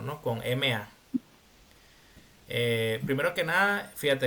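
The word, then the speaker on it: mā: final no es decir ma Ese es el tono uno entonces siempre que nosotros veamos un un pinín con el tono uno es decir con una línea recta tenemos que pronunciarlo con ese tono No ma allí no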